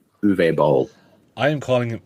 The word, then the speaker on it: Uwe Boll: I don't know how to pronounce his name. It's German. The fact that you made it through the first name, like I couldn't do that. I'm pretty sure it's Uwe Boll.